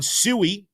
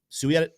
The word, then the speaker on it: SUI: Suie or SUI, you guys tell us how you want us to pronounce it. Uh Sue is still leading it looks like. So that seems like I'm sticking there. Um very explosive move there.